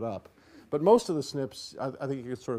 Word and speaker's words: SNP: And we pronounce it SNP.